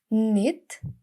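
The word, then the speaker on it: knit: Шат Шат Шат продовжуємо need need need в'язати мід-мід need Зверніть увагу що літера K не читається Для зручності до деяких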